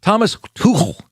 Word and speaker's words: Thomas Tuchel: Tomas, it's a guttural CH. Thomas Tuchel.